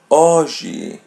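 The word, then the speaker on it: hoje: As you see there, H is silent. We're not going to pronounce it. Oie.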